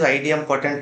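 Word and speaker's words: idempotent: what I said terraform IDM potent IDM poent some people may saym IDM actual word is IDM poent only maybe they pronounce different ways okay right what is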